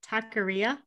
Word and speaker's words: taqueria: hispanic friends make fun of me but it's taqueria no you said it right i don't say